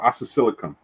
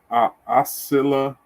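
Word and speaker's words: Oscillococcinum: Oh, oscillocum. Oscillocum. Let me see if I can. It may be okay. I said it wrong. It's oscillocassinum. The hell?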